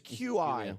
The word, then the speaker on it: Qi: How do you say it? It's Qi.